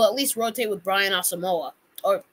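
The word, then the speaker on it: Asamoah: least rotate with Brian asamoa or it's pronounced awesome walk and overall I haven't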